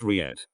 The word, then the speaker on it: REIT: in a real estate investment trust or he'd pronounced Riyad riots were created in 1960 as a way